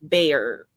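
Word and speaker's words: Baer: yeah that that's crazy I say his name like bear bear get it bear gross is that what it says is it b a e r oh it is B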